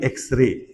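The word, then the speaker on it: X-ray: For example अगर आप कहते हो कि एक्सरे तो यहां पे अ एक्सरे नहीं आएगा। एन एक्सरे आएगा क्योंकि इसकी साउंड ये आती है।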